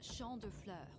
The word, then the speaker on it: Champ de Fleurs: Champs de floors? How do you say that? From Champ de Fleur. It's Champ de Fleurs. It means field of flowers.